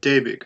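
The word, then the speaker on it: Däumig: Daumig. Daumig, okay. The A with the umlaut is pronounced like a long A. Is that right? Yeah, like an A.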